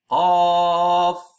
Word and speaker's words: ق: So in Qaf, actually you pronounce it like that. Qaf, Qa, Alif, and Fa. So Qaf, this one letter, is pronounced like that.